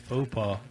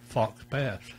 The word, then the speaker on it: faux pas: I think Mel's main one was when he pronounced faux pas, Fox Pass. Fox Pass. That's what it looks like.